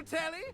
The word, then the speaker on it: Telly: Rhymes with Nelly. Like, whoa, Nelly. Did you know Telly offers 5,000 channels like an endless deli?